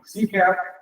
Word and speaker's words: CCAP: Don't pronounce both P's. Don't pronounce those P's. That's one B. CCAP.